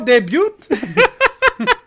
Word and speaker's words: debut: It's no debut. Okay, you say it. Debut. Oh, It's debut, the yes. T is silent? That's fucking weird. T is silent in French. It's like a French word.